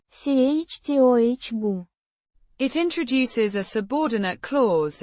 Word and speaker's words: чтобы: Pronounced. chtoh-buh.